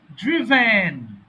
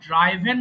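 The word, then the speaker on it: driven: হয় ড্রাইভ ড্রাইভ ড্রোভ ড্রভেন দেখো এটাকে অনেকে ভুল করে ড্রাইভেন বলে বাট সঠিক উচ্চারণ কিন্তু ড্রিভেন আমার সঙ্গে না বললে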